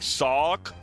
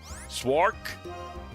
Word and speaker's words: Sawk: Like Sawk. Swark. It's still close. Get a memory. Help my honor, Emery. Kill this thing. There's no R, though. It's close enough. If you say Saw K, you get okay, Saw K, got it.